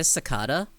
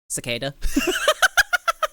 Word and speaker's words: cicada: of K versus cicada it's not even a debate it's just a difference in pronunciation based on region it was type of um who say sakada uh Brits some Australians guess who doesn't say sakata new zealanders me cicada I say I